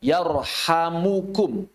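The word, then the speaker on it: يرحمكم: Wafi riwayah yarhamukum. Yarhamkum dan yarhamukum. Beberapa kiai di Indonesia ketika kami membacakan hadis ini lebih menguatkan yarhamkum pakai sukun. Tapi sebagian ahli hadis membacanya memang dengan damah.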